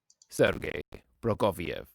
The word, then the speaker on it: Sergei Prokofiev: And here's how we pronounce his name. Sergei Prokofiev.